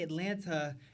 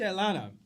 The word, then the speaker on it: Atlanta: It is very much Atlanta. And I appreciate him correcting her because, bitch, we do not pronounce that T. There's no hard T in Atlanta.